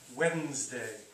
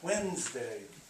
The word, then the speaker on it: Wednesday: Wednesday. Looks weird, doesn't it? Looks different than how it sounds. Wednesday.